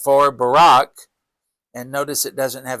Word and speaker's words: Barak: And then she sent and called for Barak. And notice it doesn't have a C in it, so it's spelled differently than Barack Obama's name, but pronounced the same.